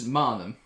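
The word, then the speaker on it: Maanum: Beazle Duck says, just a tip, Manum should really be pronounced with the same vowel sound as in raw. That's how we do it here in Norway with both the double A. They have a tiny circle above it. So it's Manum.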